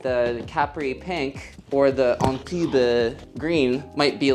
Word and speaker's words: Antibes: You could say the S is definitely silent.